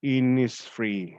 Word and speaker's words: Innisfree: this is it the lake isles uh of innisfree is that the pronunciation did i pronounce it correctly my dear